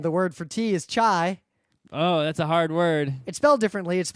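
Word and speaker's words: çay: in it and the word for tea is chai oh that's a hard word it's spelled differently it's spelled CA Y but I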